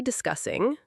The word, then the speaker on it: discussing: Today we'll be discussing... Very useful phrase for introducing the topic. Example, today we'll be discussing the new marketing project. And listen carefully to the pronunciation of discussing. Discussing. Discussing. Not discussing. English really attacks our confidence sometimes.